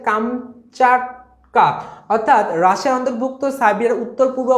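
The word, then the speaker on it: Kamchatka: করে ব্যাখ্যাটা দেওয়া আছে কামস্টক্কা হলো এর প্রকৃত উচ্চারণ হচ্ছে কামচাটকা অর্থাৎ রাশিয়ার অন্তর্ভুক্ত সাইবের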